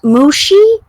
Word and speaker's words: Mushi: Mushi? That's what we chose. Mushi? Yes. Oh my god. Rhymes with sushi?